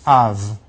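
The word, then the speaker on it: אב: two together, you get a sound, Av, pronounced Av.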